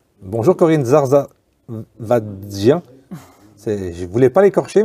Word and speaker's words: Zarzavadjian: Alors c'est simple, ça se prononce, c'est très simple, toutes les lettres se prononcent, Zarzavadjian. Donc, je refais l'essai, je remets les lunettes et on recommence. Corinne Zarzavadjian.